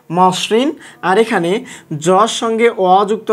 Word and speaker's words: মসৃণ: তাহলে মর সঙ্গে আমরা ওকার যুক্ত করে দিয়েছি, ম ওকারে মো, তারপর বাকিটুকু ঠিকভাবে মসৃণ।